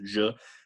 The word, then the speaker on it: je: So in a one-syllable word like je, it's automatically the end of a syllable, so it's je.